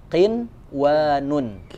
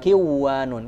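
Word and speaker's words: قنوان: Ya, jadi dibacanya qinwanun. Bukan kiwanun. Kan secara hukum tadi harusnya nun mati bertemu dengan waw itu kan lebur dan dengung. Ya. Nah, khusus 4 kata ini dibacanya jelas.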